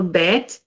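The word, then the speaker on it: בית: a dot the gash sometimes it will have the gash which that's the name of this that in the middle and that would make it sound like a b and sometimes when it doesn't have the gash it will sound as v so let's start reading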